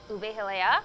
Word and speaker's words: ube halaya: Ube hilea.